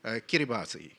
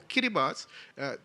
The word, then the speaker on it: Kiribati: A small country in Fiji's neighborhood, Kiribati, pronounced, has set aside 500,000 square miles of its ocean for highly marine protected area.